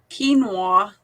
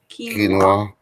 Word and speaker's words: quinoa: said okay it's crazy says uh quinoa that's how you say it quinoa yeah well i don't